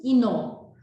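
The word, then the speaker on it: кино: Russian is Kino. The Kino. accent on the last syllable.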